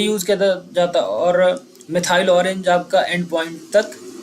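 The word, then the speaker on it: methyl: मिथाइल orange क्या हो, मिथाइल होता है भाई, हाँ मिथाइल, मैथिली नहीं होता, मिथाइल ऑरेंज होता है, हाँ सॉरी, मैं अभी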